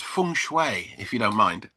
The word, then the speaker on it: feng shui: Get your pronunciation right. So, it's Feng Shui if you don't mind.